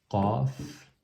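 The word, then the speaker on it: ق: C'est pas comme le K du français. Qaf. On serre la gorge au fond. Au fond de la gorge, on serre, on resserre la gorge, et donc ça fait le son Qaf.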